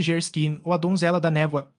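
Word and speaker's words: Geierstein: Anne de Gerstein pronuncia-se Gerskin ou a Donzela da Névoa, do autor de Waverley.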